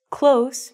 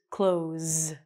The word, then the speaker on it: close: You have to really be able to pronounce the S and the Z here. So this word is close.